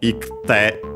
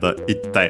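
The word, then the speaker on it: 行って: ku verbs in ku, the i fell, and so ikte, difficult to pronounce, double consonant instead, itte.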